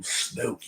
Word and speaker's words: Snoke: emperor snook snow cool snoke you heard his name it's it rhymes with smoke and it's like you